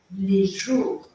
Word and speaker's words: jour: no meu slide né J você escreve j o u r s por quê u em francês sempre vai ter som de u tá então a gente vai falar lejour E aí aquele r arranhadinho e o s no final